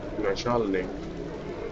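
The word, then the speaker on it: Начальник: That small U is not exactly small U. It's rather, I think, I. The opposite, the mirror version of N, and that is pronounced that E, double E or I. So it's gonna be Nachal Nick, Nachalnik, Nachalnik, Sman, and that is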